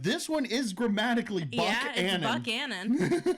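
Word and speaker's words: Buckhannon: Canon West Virginia and it's not bu Canon because it's not because it's spelled b u c k h n n o n it is Buck Anon Buck Anon why that's how that's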